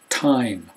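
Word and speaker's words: thyme: lie lime rhyme Ry time that's a funny word because th with a t sound not a TH or a the sound t h y m e time type Skype and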